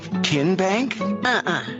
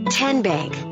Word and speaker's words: TN Bank: the name tn bank no tin bank so what is it ten bank ten as in tennessee right here where all